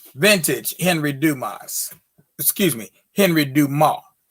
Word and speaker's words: Dumas: excuse me henry dumas let me say it in the appropriate french pronunciation henry dumas that's d-u-m-a-s s asylum all the consonants on the end of french words are silent just in case you didn't know when you see them you